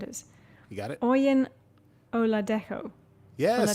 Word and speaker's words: Oladejo: Oyin Oladejo. Yes. Oladejo. Is that right? Oladejo, I think, is how they pronounce it on the show.